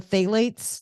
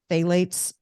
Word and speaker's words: phthalates: I would try to find stuff without the phthalates. That's spelled with a P, PTH, phthalates.